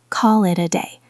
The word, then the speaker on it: call it a day: It connects together. Call it a day. It almost sounds like one long word.